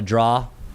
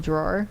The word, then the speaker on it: drawer: And then uh pulling out the that device we call it a draw. A drawer.